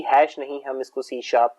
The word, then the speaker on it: C#: तो basically C लिखा तो इसको C हैश जाता है, लेकिन इसको हम जो प्रोनाउंस करते हैं वो C शार्प के नाम से करते हैं। जो हैश की सिंबल है इसको हम शार्प रीड करते हैं और उसकी वजह